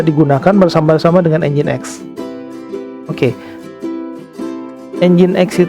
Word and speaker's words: Nginx: bersama-sama dengan engine.exe oke engine.exe itu tulisannya nyingsir tapi dibacanya engine.exe loh Oh ya pembahasan pertama